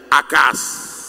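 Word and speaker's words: Acaz: con un rey que su verdadera traducción es el rey acas Así que se pronuncia acas este Rey se quiere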